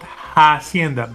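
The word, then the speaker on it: hacienda: By the way, the word is not hienda but hienda. The H is silent. Okay, because the H is silent uh for that word.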